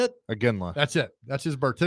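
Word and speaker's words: Iginla: I can't pronounce his last name. There you go. How do you say it? Aginla.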